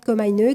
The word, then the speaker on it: Komainu: Donc com parcaraté 974 comine K o m a I n u c'est comme ça qu'il prononce hein mais ça se prononce comme à une e à la japonaise.